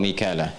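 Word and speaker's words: ميكال: Kan kemudian sampai ketemu kalimat wa Jibril wa Mikala. Jibril dengan Mikal. Mikal itu riwayat Hafiz dari Asim. Di riwayat Qalun kemudian Warash dari Nafi' dibacanya Mikail. Ya, makanya kita bisa baca dengan Mikal ya atau Mikail.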